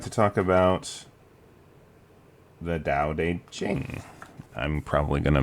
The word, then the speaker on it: Tao Te Ching: Now, like I said, there's a few different pronunciations of how to say it. Some people say Tao Te Ching. I'm going to go with the alternative pronunciation Tao Te Ching, or sometimes I'll just say Tao.